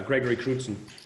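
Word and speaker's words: Gregory Crewdson: Yeah, Gregory Cruden.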